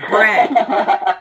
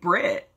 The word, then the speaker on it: Brett: It is Brett. But the thing that cracked me up is that the girl, she kept pronouncing it Brit. Like Brittany, and I was like, "But you are not from New Zealand."